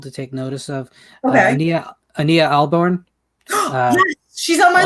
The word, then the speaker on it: Ania: I've never heard it actually pronounced out loud. I've just always seen it in print. And Ania, it's Ania, so I always Ania.